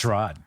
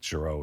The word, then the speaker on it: Giraud: Girard. Right? So this Giraud. So yeah. Pronounce it right, Giraud.